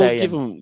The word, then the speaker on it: Saiyan: What does the next Scion evolution of Mahomes look like? Did I say it right? Of Mahomes look now. Tucker, how do you say it? Oh, Saiyan.